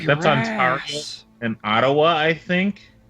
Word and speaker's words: Ontario: Why won't you let me pronounce it Ontario? And Tuber, it's pronounced Ontario.